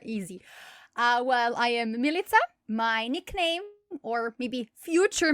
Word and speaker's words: Milica: the past couldn't pronounce milita because it's pronounced like pizza so i gave myself